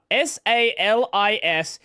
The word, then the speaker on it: Salisbury: It is S-A-L-I-S-B-U-R-Y. You don't pronounce the I, it's just Salisbury.